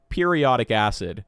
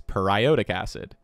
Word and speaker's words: periodic acid: why don't we put it into D tier periodic acid which is not how this is pronounced actually it's periodic acid periodic acid is annoying because we talk about